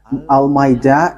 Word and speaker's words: Almeida: So the way you write it, Almeida, is as it is pronounced, Almeida.